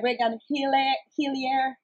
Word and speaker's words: Regan Hillyer: And I'm so privileged to have a guest as a Regan Hillyer. That's how you pronounce it?